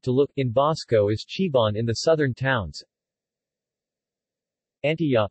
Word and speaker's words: chiban: area encompassed by Avasayan, T is prominent, whereas in the Isimaranjan zone to the south, Mahitao, Ivana, Uyugan and Sabting, that phoneme becomes a CH.